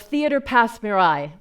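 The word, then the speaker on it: Théâtre Passe Muraille: 3 years as the associate artistic producer of Theatre Pass Mirai. Close enough? Yeah, that's actually how it's pronounced.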